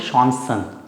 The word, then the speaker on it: Chancen: Spelling same है, हम बोलेंगे शॉन्सन, शॉन्सन.